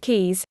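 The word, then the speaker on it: cayes: and is inaccessible 42 belize is filled with 450 ks pronounced keys which are small islands they are indeed the key to happiness 43.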